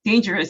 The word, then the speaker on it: dangerous: So they all want Gabriel to understand that the way you pronounce dangerous, the way you say it is dangerous with that long A vowel sound.